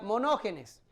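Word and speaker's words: μονογενής: se que se que se pronuncia monogenes mono de uno ya y Ah genes de engendrado así significa si lo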